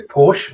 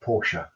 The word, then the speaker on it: Porsche: But in German, it is in fact Porsche. Yeah, if there's an E at the end of a word, you pronounce it.